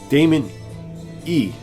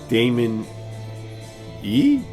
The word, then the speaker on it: Damin Eih: Damon E rhymes with flaming tree. Damon E.